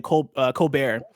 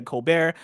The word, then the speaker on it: Colbert: Again, the article is called Uncovering the Real History of the Women Who Pioneered Video Games by Isaiah Colbert. Or Colbert. I'm pronouncing it the Stephen Colbert way.